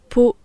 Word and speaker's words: peau: Peau P a U et peau P O T ne veulent pas dire la même chose.